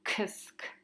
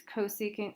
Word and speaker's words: cosecant: want to state that you don't pronounce this kisk or sec or cot. It's cosecant, secant, cotangent. You say the full word.